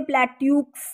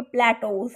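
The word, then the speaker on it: plateaux: ये इसे प्लेट्यूक्स नहीं पढ़ना, इसे हम बोलेंगे प्लेटोस।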